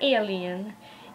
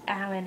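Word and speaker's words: Allen: played by kingan alien it's not alen it's Alan I think Alan yeah H sorry um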